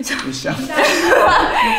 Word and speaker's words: Duchamp: 뒤샹. 뒤샹.